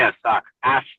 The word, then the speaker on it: AAWKS: Something by uh is it asuk or as depending on how you say it? Yeah, it's so I say a suck ass.